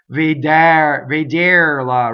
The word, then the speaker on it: vederla: So it does not rhyme with chair, the second, right? I hear vederla, right? Chair. I'm exaggerating. I'm being evil, right? But vederla. That's how you do your purity test, right?